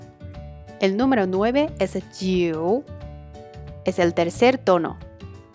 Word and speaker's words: 九: "Iu" is pronounced "you" as in English, following these steps try to repeat with me (jiu3) 九, (jiu3) 九, (jiu3) 九.